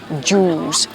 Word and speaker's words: juice: เด้ สาว นะ คะ ตัว นี้ ก็ ออก เสียง เดียว กัน เลย คือ สระ อู นะ คะ คือ ju Juice Orange Juice สระ อู แล้ว เติม เสียง ท้าย เฉย ๆ เป็น ไง ใคร